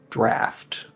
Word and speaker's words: draught: I don't think Mephitic Draft, because apparently that draught is pronounced draft, and I hate that.